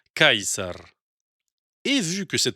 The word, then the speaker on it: Caesar: La prononciation de César en latin classique était Caesar.